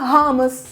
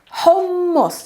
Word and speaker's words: hummus: harmless harmless it's not bahamas and it sounds a lot like the homs city in syria but it's not the same pronunciation again it's homos you have to double the m first let's start first